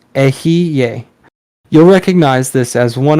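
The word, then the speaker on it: Eheieh: The mantra for the western pentagram is Ahie, or pronounced Ehiye.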